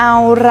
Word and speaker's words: เรา: อย่า ลืม นะ คะ รอ เรือ ต้อง กระดก วิ นิด นึง นะ คะ แบบ นี้ นะ คะ รอ เด็ก ๆ เรา ออก เสียง สิ คะ รอ รอ เอา เรา แต่ ถ้า เป็น รอ เรือ เรา จะ กระดก ลิ้น รอ แต่ ถ้า เป็น รอ ลิง เรา จะ ไม่ กระดก ลิ้น นะ คะ เด็ก ๆ